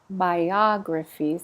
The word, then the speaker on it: biographies: Biographies. It's on the ah.